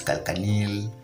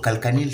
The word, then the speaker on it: calcaneal: Very many people spell it differently. Some people say it is calcaneal, calcaneus, but it's a growth that normally results